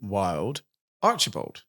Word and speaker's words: Wylde-Archibald: And uh we're super excited to have on the show today, Helen Wild Archerald. I pronounced that right.